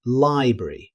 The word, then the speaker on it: library: Instead of saying every syllable, many native speakers shorten it to library, dropping the middle R sound.